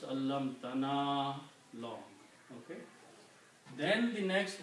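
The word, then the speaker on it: عَلَّمْتَنَا: So you have to pronounce allam tana long.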